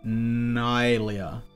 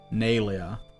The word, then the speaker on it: Nalia: Not Nylia. Nalia.